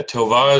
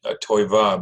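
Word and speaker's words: טובה: Yeah, Tovah is the correct way to say it. I've picked up the habit of saying Toiva because that's sort of an Ashkenazi Yiddish.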